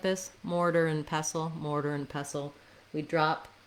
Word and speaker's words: mortar and pestle: really highlighting the and if i'm natural it's going to sound a little more like mortar and mortar and pestle maybe a little bit of an n sound here or an n sound um you can think of it just as a syllabic n where the n is the only syllable um mortar and mortar and pestle and pestle then you've probably